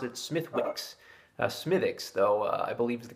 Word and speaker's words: Smithwick's: people pronounce it smithwicks smythics though i believe is the great pronunciation i've always pronounced it that way i was always told that w is silent so i've always said smithics and not smithwicks but a lot of